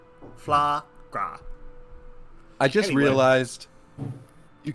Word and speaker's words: Flaahgra: Is it like foie gras but flour? No, it's FLAAHGRA. Flagra.